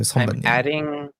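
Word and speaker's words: 선배: So sonbae. I'm reading it in my mind as the Roman characters, which is bay. Yeah, I know now it's pronounced bay.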